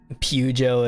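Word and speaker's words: Peugeot: but I could be wrong that's how I pronounce pujo okay I've been fixed pujo it is throw Bob after it and that's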